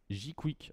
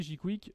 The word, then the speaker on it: jqwik: Aujourd'hui, je suis venu pour vous parler de Jquick. Alors moi je le prononce comme ça, mais c'est peut-être Jquick, je